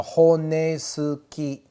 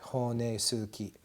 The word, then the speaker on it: honesuki: meat cutting knife, the honesuki. Honesuki. Where I commonly make the mistake is I forget to pronounce this U and I pronounce it honesuki. And my wife says, no, Murray, you mean honesuki.